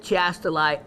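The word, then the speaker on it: chiastolite: them hence the word now some people pronounce it Chast Li others go by more the Greek now it's from the Greek word now this is where Penny who is um Greek for certain um would know a lot more about pronunciation than I would but it goes by I think the way it was saying was a hard CH like a uh C like as in castalite so um take your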